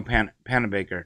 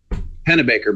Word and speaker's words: Panabaker: I love Daniel Panabaker. Did I say that right? Yes. Yes, I said it right. I love you, Daniel Panabaker. Pennebaker, but you're close.